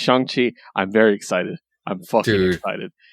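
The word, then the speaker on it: Shang-Chi: day that things change shang chi legend of the 10 rings comes out or chongqi i should say yeah he actually corrected the pronunciation on twitter and i respect that so it's shangqi i'm very excited i'm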